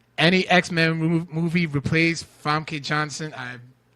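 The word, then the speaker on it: Famke Janssen: Our resident supervillain, John Aponic, says, any X-Men movie replace Famke Johnson.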